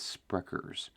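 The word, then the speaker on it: Sprecher: e r s it's it's spelled speters but it's spers uh they it's really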